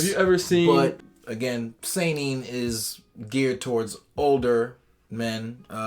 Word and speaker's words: seinen: Seinen. Yes. Seinen. He messed up. Seinen. That's Seinen. Makes you want to say it like that.